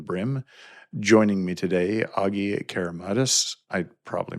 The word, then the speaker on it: Keramidas: Joining me today, Agi Keramidas. I probably mispronounced that again. Keramidas. Help me out, Agi. Keramidas, yes.